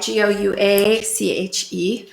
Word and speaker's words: gouache: This is painted with gouache, spelled with all the vowels except for the I, Gouache. Hard to pronounce, hard to say, so fun to paint with.